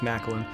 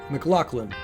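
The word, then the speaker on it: MacLachlan: I'm sure it's Macklin. McLaughlin. Kyle McLaughlin. That's his name.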